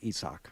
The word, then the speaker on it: Isaac: That's actually how you pronounce Tampa Bay third baseman. our intern's name also. Isak? It's Isak.